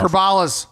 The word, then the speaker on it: Kribales: Please welcome Chris Kribales to the show. Did I say it right, Chris? Close enough. Kribales.